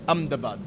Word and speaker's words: Ahmedabad: butt I should say the pronunciation um is not as you would expect when you look at it on the page but I'm the bud I'm told is the way you you say it in these parts well you've